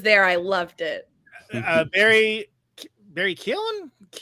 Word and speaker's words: Keoghan: Barry Keoghan? How do you say that? It's no. See now I can't. It's like Keoghan.